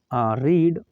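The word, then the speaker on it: read: Late Ravi रीड a book, Ravi को एक किताब पढ़ने दो, ये थर्ड फॉर्म यही रहेगा, बस इसे प्रोनाउंसिएशन में आप रेड कह सकते हो।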